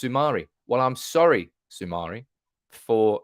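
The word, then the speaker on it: Soumaré: coming in with pronunciations it's pronounced Sumari well I'm sorry Sumari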